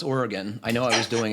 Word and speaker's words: Oregon: uh first of many things is how to pronounce Oregon I know I was doing it wrong when